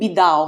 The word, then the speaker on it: Biddau: You know, but that's literally how I um how I pronounce it to people here because what's the point I go, "Hi, my name is Bido."